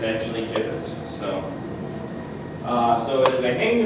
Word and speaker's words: gibbet: So in Genesee County, we used an implement called a gibbet, and that is the correct pronunciation. For a long time I said gibbet, but it's actually gibbet.